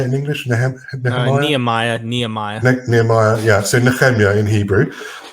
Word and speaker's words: Nehemiah: Nehemiah, yeah.